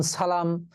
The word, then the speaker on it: সালাম: আমরা দন্তস দন্তস রাখব দন্তসছ এর মত উচ্চারিত হয়। যেমন সালাম, সালাত।